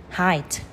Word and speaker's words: height: Và từ này nhé, các bạn thường đọc là a thì hate, tuy nhiên nó sẽ là I. Height.